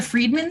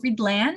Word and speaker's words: Friedland: People would go, the Friedman scheme? And I'd have to be like, no, Friedland. Friedland.